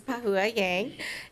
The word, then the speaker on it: Pahua Yang: was waiting to see how you'd pronounce that name yang pahua oh Miss Yang that's how I pronounce it you pronounce it very well so good afternoon Mr